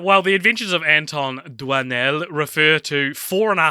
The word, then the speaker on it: Doinel: patrons The Adventures of Antoine duino or as we soon found out duanel because of course it's Dua now Antoine has oi in it and we pronounce that fine we get to doynell